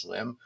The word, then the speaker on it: SLM: the uh Anthem MRX swim slm but I guess pronounced swim which is you can